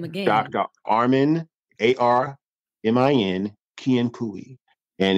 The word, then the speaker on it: Kiankui: Armin Kiankui.